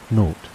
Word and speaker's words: naught: The 0 in the telephone number he pronounced naught.